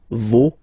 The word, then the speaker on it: vos: pronounce the final S, vos, you don't pronounce it, leur.